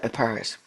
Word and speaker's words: Epirus: I think it's Epirus. Yeah, Epirus. They believed firmly that the great toe of Pyrrhus, king of Epirus, performed miracles and cured diseases of the spleen.